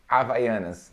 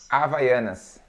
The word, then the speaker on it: Havaianas: is a very honest fi ennas yeah we it's funny because in Brazil we don't pronounce the letter H like like like you